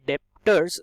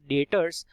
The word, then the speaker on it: debtors: डेटर्स, बहुत लोग गलत प्रोनाउंसिएशन करते हैं इसका एज डेप्टर्स, which is completely wrong. It should be pronounced as debtors actually and B is silent in it.